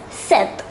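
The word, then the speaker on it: sept: is 6 7 is set here we need to note that the letter p is silent so number 7 is pronounced as seth 8 9 10 these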